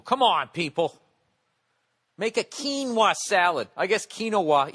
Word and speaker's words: quinoa: salad I guess quinoa even though it's spelt oay is not the way to say it some ass on Twitter is giving me you're driving me crazy it's pronounced quinoa what kind of a